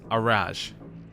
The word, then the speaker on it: Araj: to make okay um allar I was reading her name wrong but yes it's araj okay let's hear about